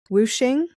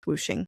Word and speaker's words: Wuxing: There's also this system of elements, which is called whooshing. It's spelled like wuxing though. It's Wuxing, but it's pronounced whooshing.